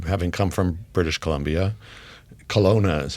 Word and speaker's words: Kelowna: Kelowna is how you pronounce it, right?